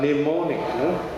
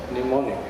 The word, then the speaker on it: mnemonic: So the many initial words were just silent, like mnemonic, mnemonic, the N is silent, and so on.